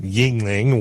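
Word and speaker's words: Yuengling: that is the youngling everyone around here pronounces it yingling which i don't know i i would assume that it would be an eye instead of a ue if it was actually the same in both syllables but i'm going to call it jungling because that that actually sounds closer to what it should be maybe i don't know but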